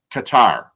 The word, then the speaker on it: Qatar: So next year is the World Cup, and it's played in Qatar or Qatar, however you want to say it. It's been pronounced both ways.